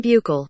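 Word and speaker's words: Buechele: want to get these right for you guys pronunciation here we go shane by cool what shane buckle buckle all right shane buckle there we go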